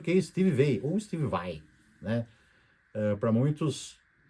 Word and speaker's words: Vai: O guitarrista famoso lá dos Estados Unidos, o nome certo dele é Steve Vai, porque é o nome italiano, mas muitos falam veio para aproximar aí da pronúncia inglês, né?